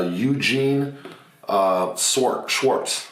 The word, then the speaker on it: Eugene Schwartz: This is called Breakthrough Advertising by Eugene Schwartz. That's how you pronounce it.